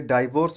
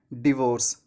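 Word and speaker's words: divorce: उनको इस ओर कि आप में से बहुत से लोग इसे डाइवोर्स बोलते होंगे डाइवोर्स बोलना गलत है क्योंकि इस का सही उच्चारण होता है डिवोर्स क्या होता है डिवाइस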